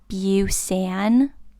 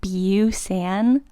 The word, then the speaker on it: Busan: Train to Busan, and they said it like Train to Busan. I'm not expecting perfect pronunciation, but Busan, there's no E. Even just Busan would have been fine.